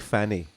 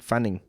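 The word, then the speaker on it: Mick Fanning: funding is another man did you say his name is Mike Fanny Mike Fanning oh Fanning all right okay and then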